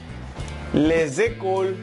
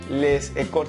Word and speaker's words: les écoles: No puedes decir les écoles, sino les écoles. Eso es algo llamado liaison, que ya lo veremos en otra clase de pronunciación. Porque en la lengua francesa se tiende a pegar las palabras.